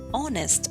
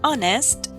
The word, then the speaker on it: honest: Or we say he is an honest man. An honest, H is silent again.